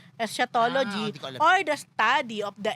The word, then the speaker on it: eschatology: mali pronunciation ko ah esatology o escatology o hindi hindi iba yon eschatology or the study of the end of the world in Christian doctrine.